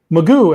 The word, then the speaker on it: McGough: So Magoo, as you said, it's spelled McGough, but it's Magoo.